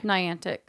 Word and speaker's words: Niantic: what other people say nyan tick swing it Niantic how do you say it Alexa ray Niantic so I'm saying it correctly yes perfect people say maybe I learn English pronunciation words you've wrapped up their special Pokemon